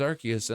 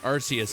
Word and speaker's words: Arceus: Just because a word is in another word doesn't mean you pronounce that other word with the same pronunciation as you did with the first word. You know? Like just because it's pronounced, just because I pronounce it Arceus doesn't mean that I should have to pronounce it Arsephone, because arc is its own word.